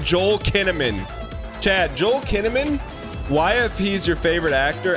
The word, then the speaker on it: Kinnaman: Joel Kinnaman Chad Joel kinnamon yfp is your favorite actor and if you've never heard of him also his name rhymes with cinnamon Joel kinnaman's underrated